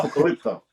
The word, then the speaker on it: Apocalypto: my wife's favorite films, Apocalypto, as the makeup artist. Sorry, Apocalypto. Oh, Apocalypto. There we go, right there. With the T. Oh, T of Tower. oh, Apocalypto.